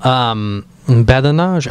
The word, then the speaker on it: badinage: Badinage. I like that. I like that word. It's badinage. Fun. Badinage. I like to say it like a French person.